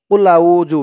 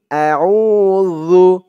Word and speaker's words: أعوذ: দর্শক, আপনারা অনেকেই পড়ে থাকেন কুলাউজু বিরব্বিন নাস। কুলাউজু জু বলে থাকেন। জু বললে উচ্চারণটা ভুল হয়। বলতে হবে কুল আউযু যু, কুল আউযু বিরব্বিন নাস।